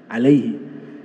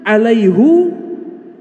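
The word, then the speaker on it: عَلَيْهُ: Kalau alaihi itu ringan, alaihi. Harus alaihu, berat.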